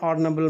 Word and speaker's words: honorable: Again, an honorable man. So H over here is silent.